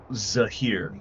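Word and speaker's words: Zehir: Zahir.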